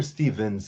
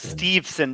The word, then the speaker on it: Steveson: out and introduce gable steveson so i'm still expecting him to be in the bobby ladies is it steve sinner stevens steveson there's no n there's no end okay yeah i thought